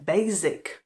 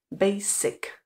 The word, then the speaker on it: basic: se v něm chybuje Pokud říkáte Basic a vyslovujete tam to z Tak pozor Tohle není správná výslovnost správně tam totiž musí být zvuk s Basic Basic tohle slovíčko jsem